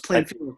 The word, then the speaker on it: Plainfield: Plainfield. No, it's Plainfield. No S there.